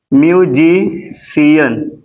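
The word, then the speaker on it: musician: हमारे वर्ड हो सकते हैं हो सकता बिल्कुल म्यूजिशियन सी के बाद आई आ गया म्यूजिशियन ठीक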